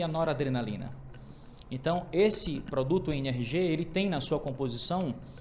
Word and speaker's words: NRG: pronunciar em Inglês fica NRG que é exatamente a pronúncia da palavra em inglês energia então ele é um